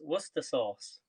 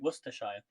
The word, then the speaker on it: Worcestershire: to use i've never used this before it's pronounced worcestershire sauce worcester sauce if it was to sh yeah worcester sauce because you guys in the states call it worcestershire liam perrin's worcester sauce worcestershire worcestershire sauce repeat